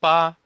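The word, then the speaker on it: 八: It mimics the shape of the Chinese character for 8, which is Pa.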